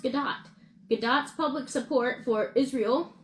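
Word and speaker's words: Gadot: stances of the lead actresses Rachel zler and gadoo or excuse me Gat have added to the film's controversies um and her name is pronounced gdat gdot's public support for Israel and dear's pro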